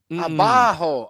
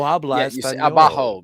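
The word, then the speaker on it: abajo: Say it like this. Ah. Abaho. Abaho lower please. Of course. Okay. So, Spanish my sorry it's been two years since I've lived in Mexico and that no abaho means lower please.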